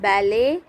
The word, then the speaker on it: ballet: Ballet, T is silent.